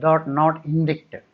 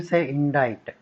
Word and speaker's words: indict: That C is silent, not indict. You say indict.